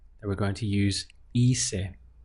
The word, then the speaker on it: hice: So to say I did, it would be hice, hice. Again, the pronunciation starts here from the I, which as we know is always pronounced as an E in Spanish.